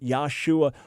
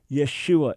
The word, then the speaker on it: Yeshua: But there's no reason to create a name that never existed, Yahshua or Yahushua. Forget it. It is Yeshua.